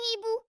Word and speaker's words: hibou: Cette lettre ne se prononce pas. H comme hibou.